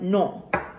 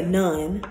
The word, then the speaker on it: non: So like non, you're not going to say none, you're going to say non.